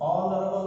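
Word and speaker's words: honourable: वैसे ही ऑनरेबल मैन, ऑनरेबल person, ऑनरेबल नहीं कहेंगे ऑनरेबल, और इसलिए इसके पहले संख्या 1 दर्शाने के लिए एन का प्रयोग करेंगे।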